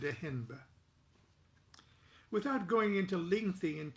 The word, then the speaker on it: Ehnb: His name is spelled E-H-N-B. We pronounced it Ehenba.